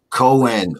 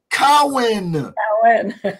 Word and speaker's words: Cowan: the very lovely cohen we are out of here i went actually cohen allen cowen saturday wrong you got to say it right cowan and please forgive me